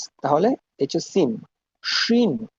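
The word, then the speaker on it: شين: শিন, এর উচ্চারণটা হচ্ছে এস এইচ, শিন। স্বাধীন, সুন্দর, সার্বভৌমত্ব, শিপ, শিওর।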